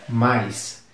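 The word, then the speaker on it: mice: rato e o plural da palavra Mouse é mais m i c e ratos pronuncia mais e eu acho que essa lista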